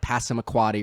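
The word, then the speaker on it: Passamaquoddy: this town that which nobody can pronounce it's like pass him a quad-a or something like that that's exactly you just pronounced it did I get it right yes and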